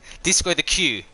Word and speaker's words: discotheque: Okay, they're discotheques. Okay, disco the Q. Sorry, that's how you say it.